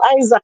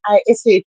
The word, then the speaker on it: Isat: Me hear people call him Isaac and all type of something, you know, but he name ISAT, so it will be Isat.